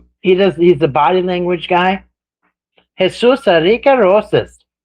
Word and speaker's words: Jesus Enrique Rosas: There's a Jesus Enrique Rosas. That's his name. He's a body language guy. Jesus Enrique Rosas. That's how he says his name.